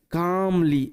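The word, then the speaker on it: calmly: বোঝার চেষ্টা করে যে এ এবং এল এর মাঝখানে না এল থাকলে এল সাইলেন্ট থাকে, ওই কারণে এটাকে বলছি কাম। আর এটা মনে রাখতে পারো যে এ এল এম এটা একত্রে আম সাউন্ড দেবে, এটা সব থেকে বেশি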